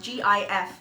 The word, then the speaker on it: GIF: who insisted it's pronounced Jiff, not Ghiff. He passed in March of this year, 2022. I'm sorry, Steven. You may have made it. You're wrong. It's GIF. Hard G.